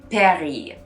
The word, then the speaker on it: Paris: the brand isn't paris because the s at the end the word paris is not pronounced so on top of the s you need to get rid of in french the i usually makes an e sound so just like the city isn't pronounced paris in french it's pronounced